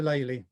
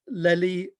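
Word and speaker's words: Lely: before i go on some of you might pronounce the name uh leli and you can say whatever you like and in fact i've listened to talks by world leading experts and they all pronounce the name differently even at the same event american art historians tend to say lily the reason i say laylee is because of the derivation his name was actually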